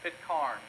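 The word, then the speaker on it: Pitcairn: bly they went to an island the island is spelled p-i-t-c-a-i-r-n pit carn island nine mutineers arrived on that island six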